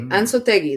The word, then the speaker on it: Ansotegi: But I will say Ansotegi. That's how you would pronounce his last name, right?